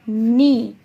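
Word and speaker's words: knee: तो जब हम नी बोलते हैं उसमें के जो होता है वो साइलेंट होता है, उसकी आवाज़ नहीं आती है।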